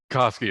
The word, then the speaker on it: Koski: And so Koski, is that how you pronounce it? Koski, that's correct.